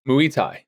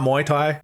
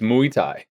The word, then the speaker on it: Muay Thai: Is that how it's pronounced? Mu Thai. Mu Thai, not Muay Thai. M Thai. I literally made sure I've triple check. It's Mu Thai.